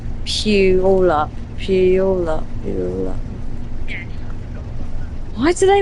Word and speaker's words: Puyallup: Remember, playa is pronounced Puyallup.